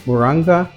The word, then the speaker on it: moringa: Spelled Moringa. Moringa. You have different pronunciation of it, but one thing is not in question is its potency.